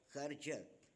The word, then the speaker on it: Karjat: This is called Karjat. That's how I think it's pronounced.